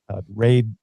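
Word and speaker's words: RADE: how he explained it raid is it rad or raid how I I which one um I pronounce it as RAID and that seems to be the most common way to pronounce it so so he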